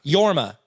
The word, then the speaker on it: Jorma: schaefer uh and then it is jorma is that how you say it i think that's how that's technically yorma yorma yorma i think's